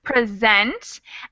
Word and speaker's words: present: it's an interesting difficulty this word has an accent on the second syllable so it's present and if you accidentally put the accent on the first syllable the meaning changes so the first syllable accent would be a gift present gift and present